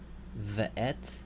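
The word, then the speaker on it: וְאֶת: This word, you have a vocal schwa there in the first syllable. V. And then et. Ve'et. Ve'et. Here, you notice this stress is in the next to the last syllable.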